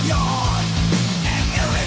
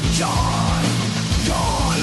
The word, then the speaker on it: Jon: so perfect John it's spelled like John but it is pronounced like Y and the actor the DJ